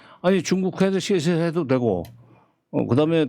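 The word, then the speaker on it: 谢谢: 그런 중국하고 거리를 두자는 게 뭐 아니 중국한테 시세해도 되고 그다음에 더 대만한테 시세해도 된다. 이제 중국 원 발음은 세세가 아니라 시세.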